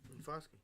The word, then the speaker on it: Foskey: Foskey.